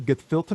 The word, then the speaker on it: gefilte: They're What is how do you pronounce it again? Gefilte fish?